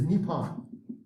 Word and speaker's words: Nippon: don't call themselves japanese japan is not japan to them it is nippon you know we have our own pronunciation of it but that's how they